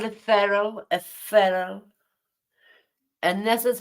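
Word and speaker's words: ferrule: of the factory a feral it's pronounced like feral like is an feral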